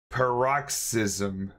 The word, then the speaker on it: paroxysm: it's I always up this pronunciation par roxism paroxysm one of the other p a r o